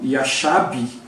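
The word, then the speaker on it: ישב: ele foi assistir ali, ele consertou aqui essa pronúncia, né, então é o Yashab, né, é Yashab mesmo, né, a primeira palavra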